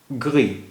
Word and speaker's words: gris: اب دیکھیے گری, گری مذکر اور مؤنث دونوں میں, مؤنث میں اس کی اسپیلنگ ایک ہی ہوتی ہے.